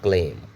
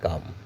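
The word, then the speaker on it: calm: Stay ক্লেইম। Sorry stay কাম মানে শান্ত থাকো। সি এ এল এম উচ্চারণ হবে কাম। সি এ এল এম উচ্চারণ হবে কাম।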